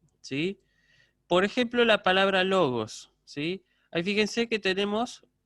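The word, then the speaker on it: λόγος: Bueno, fíjense, en logos entonces tenemos 2 moras, logos. La sílaba que se acentúa es lo, entonces el acento que va a llevar va a ser ahí, agudo sobre la penúltima.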